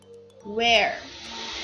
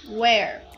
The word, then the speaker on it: where: W-H-E, som de U, where, when, where, when. O único que não é